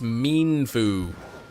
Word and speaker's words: Mienfoo: Misty marked mean Fu it's pronounced mean Fu like he's mean and he likes the Foo Fighters cuz he's a fighting type so uh um all